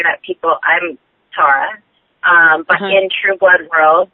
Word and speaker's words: Tara: Tara on the show, and that's how it's pronounced. But it's so true. I always say that I'm Tara.